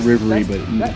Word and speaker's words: Rivery: it's Riley and Avery so rivalry is we pronounce it Rivery but internally it's rivy what's going on